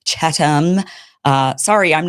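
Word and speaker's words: Chatham: He makes fun of my Yesterday I was saying Catham House rules. Apparently it's Chattam.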